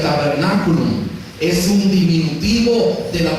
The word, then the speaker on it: tabernaculum: La palabra tabernáculo es derivada de una palabra latina que se pronuncia tabernaculum.